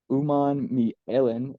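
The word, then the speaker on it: Umanmielen: Um, but yeah, Princely, uh, Uman Mi Ellen, who There you go. that's the pronunciation I was getting from most of these announcers when I was watching some of these highlights.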